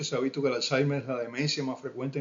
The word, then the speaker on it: Alzheimer: Buenos días y hoy vamos a comenzar a hablar de la enfermedad de Alzheimer, Alzheimer, como se dice en español, pero en alemán se pronuncia Alzheimer.